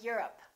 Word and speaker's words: Europe: I'm from Europe. Don't say I'm from Europe. This is stressed. The O, once again, is reduced.